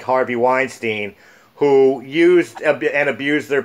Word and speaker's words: Weinstein: The return of the unfortunate darker side of Hollywood, the casting couch, in the form of Harvey Weinstein. Did I pronounce his last name?